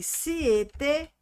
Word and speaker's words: siete: Atenção, um outro detalhe aqui. Aqui, ó, siete, tá? Então, quando a palavra terminar com e, pronuncie o e. Quando ela terminar com o i, pronuncie o i.